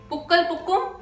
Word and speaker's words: Pookal Pookum: Pukkal Pukkum, that's how it's pronounced.